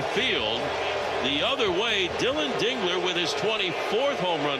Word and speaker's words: Dingler: You want to make sure you say it right. Dingler. Yes, Dingler. Get that right. Not Durk. Not Durk. Not Dler.